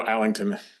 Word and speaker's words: Allington: no, Allington. Yeah, it's I put an R in there, I think. I think when you first see it, it's natural. It's kind of just different, but Yeah, thanks for